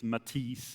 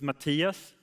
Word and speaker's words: Mattias: Um the first thing is that people a lot of people they can't pronounce my name right I get a lot of Matias Matias Matis and all kinds of things is Matias u so the other thing that annoys me